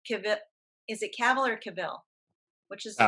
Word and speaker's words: Cavill: I thought what Cavill, is it Cavill or Cavill? Which is the right pronunciation?